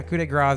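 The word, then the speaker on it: coup de grâce: Coup de grace is the way you would actually pronounce that.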